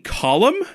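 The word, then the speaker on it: Colm: Fucking column? I know! Right! Column Mimi. And I've been mispronouncing it for so long.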